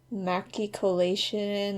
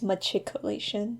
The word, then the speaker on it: machicolation: like something was like macki colation or something like that oh and I just realized I pronounced that wrong I think it's machicolation not macki machicolation and that's like the